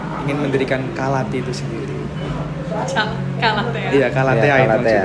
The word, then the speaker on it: Calathea: Sebenarnya tuh pronunciasinya bukan Calati, tapi Calatea.